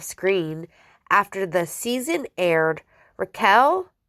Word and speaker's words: Raquel: Raquel Leviss, which I said it right, I usually say Rachel, with whom Sandoval had